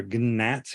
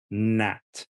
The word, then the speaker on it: gnat: GN right you don't you don't say or gnat you say na Nat gnarly or Nash and